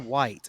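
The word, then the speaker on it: Wight: one of you and it does read Mr White but it is spelled uh w-i-g-h-t uh the islands Island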